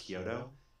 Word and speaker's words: Chiodo: Uh Lisa Kyoto, but mine. It's CH. You spell with a ch but pronounced Kyoto.